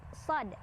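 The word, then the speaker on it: صاد: Shad juga kalau diuraikan dia terdiri dari 3 huruf yaitu so, alif, dan dal sukun. Dibacanya 6 harokat juga. Shad, shad. Dan jangan lupa dalnya karena sukun ada pantulannya, ada qalqalahnya ya.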